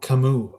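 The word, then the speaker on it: Camus: Oh, Kamu. Okay. Is that really how you pronounce that name? Interesting. I had no idea. Now I know. For anybody who doesn't know, Albert Camas is pronounced kamu.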